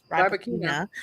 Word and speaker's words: Rybakina: Rybakina.